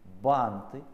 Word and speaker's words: банты: Значит, банты. Ебать, тут усложняется. Кран. Ебать, усложняется, это урок для гениев. Банты, нужно произносить, краны, торты, шарфы.